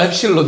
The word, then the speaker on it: 엡실론: 이 어, 엡실론. 좋아요. 엡실론이라고 읽어요.